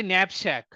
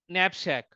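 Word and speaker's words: knapsack: elliptical curve cryptography finally nap Shack K is a silent letter nap Shack so now if you're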